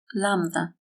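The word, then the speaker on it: λάμδα: The ancient name of the letter is lambla, but it is also called lambda without the v and it surely makes it easier to pronounce.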